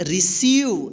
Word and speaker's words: receive: रिसीव। देखिए यहाँ पे EI यानी EI एक साथ आया है तो इस EI का E उच्चारण होगा, यानी बड़ी E की हम उच्चारण करेंगे मात्रा, ठीक।